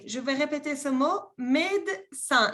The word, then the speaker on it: médecin: Médecin. No se pronuncia la segunda E.